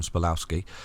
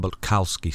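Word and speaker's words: Bulkowski: long time ago called tom spalowski uh tom balkowski sorry i need to say it properly uh unfortunately he passed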